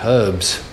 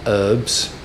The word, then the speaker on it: herbs: the l-shaped corridor herwin with an h like herbs it's not herbs most american pronunciation i think makes a lot of sense where did you get herbs from come on it's got an h and it's not silent uh anyway sorry uh